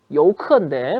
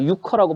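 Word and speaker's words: 游客: 여우커인데 뭐 유커라고 발음을 하니까 저도 유커라고 해 드릴게요.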